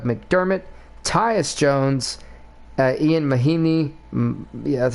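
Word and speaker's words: Mahinmi: jabari parker doug mcdermott tyus jones uh ian mahini yeah that's how you say it and lugence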